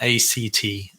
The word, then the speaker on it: ACT: leaving living a purposeful life so what is act stand for X stands for acceptance and commitment therapy or acceptance or commitment training okay and it's pronounced at not a CT the reason is because a CT sounds very